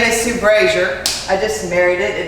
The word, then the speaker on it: Brasher: My name is Sue Brasher. I just married it. It doesn't exactly spell out and make it sound that way, but that's how you pronounce it, Brasher.